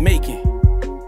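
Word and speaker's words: Macon: I told myself one day I'd make a song called Making. And now it's here. It's actually a play on the word of the city, Making, that's spelled M-A-C-O-N.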